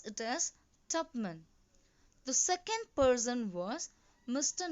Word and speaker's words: Tupman: Children, you must pronounce it as Tupman.